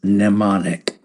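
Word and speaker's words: mnemonic: The word of the day is nemonic. Nemonic. And it is spelled m n o n i c. The m is silent.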